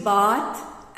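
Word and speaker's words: bathe: लॉट of vocabulary now द next one इज बाथ एंड बेथ सी द pronunciation it's बाथ बी ए टी एच एंड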